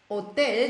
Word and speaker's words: Hotel: haben jetzt all danach das Wort ist Hotel das Haar wird nicht ausgesprochen ich mir ist es